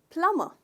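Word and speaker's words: plumber: क्योंकि हम जनरली हर लेटर को प्रोनाउंस करने की कोशिश करते हैं, पर इसमें बी साइलेंट है। तो इसका प्रोनाउंसिएशन है दोस्तों प्लम्बर, प्लम्बर। ट्राई कीजिए, प्लम्बर। तो इसमें स्ट्रेस आप करते हो पहले भाग पे, प्लम्बर, राइट।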